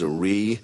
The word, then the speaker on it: Zrii: The name of our company is Zarri. That's spelled Z R I.